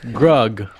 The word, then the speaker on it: Grug: For me it was first first Jeremiah was saying stuff about Grug rhyming with Rug.